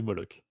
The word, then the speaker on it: Moloch: Bah, du coup, c'est Moloch.